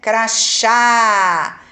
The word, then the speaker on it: crachá: Crachá. Então, crachá. Essa é a sílaba mais tônica mais forte. Agora eu vou ver qual é o som. Crachá. Ah, parece de chá, né?